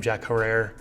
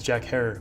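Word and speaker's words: Jack Herer: people mispronounce his name jack herrer it's uh according to him it's jack hare rhymes with terror this is the 14th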